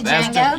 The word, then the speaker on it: Django: I just watched the Django Unchained for the first time like 2 days say ago. Django? Yes, I did. The D is silent and present.